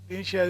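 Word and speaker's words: Dinshiya: Dinsha is spelled as D-I-N-S-H-I-Y-A.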